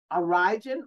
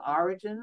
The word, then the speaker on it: Origen: Oh, Origen. Origen, or some people may pronounce it Origen or Origen, okay?